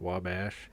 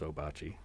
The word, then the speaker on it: Ouabache: Uh there was a stretch where it was officially pronounced wobbash.